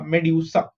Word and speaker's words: medusa: How do you pronounce this? M is May, D-U is dew, S-A is sa, medusa.